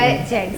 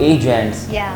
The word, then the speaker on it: Agents: बिल्कुल बिल्कुल, क्योंकि अक्सर लोग जो है वो इसको प्रोनाउंस करते थे एजेंट। तो मैंने बहुत सारे लोगों को करेक्ट किया, मैंने कहा इट्स नॉट एन एजेंट, इट एजेंट्स। तो ए स्टैंड फॉर मैन